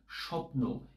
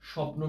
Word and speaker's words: স্বপ্ন: আমরা এটিকে বলতে পারি একটা স একটা জোড় দেওয়া হয় স্বপ্ন এভাবে আমরা স্বপ্ন শব্দটি উচ্চারণ করি আশা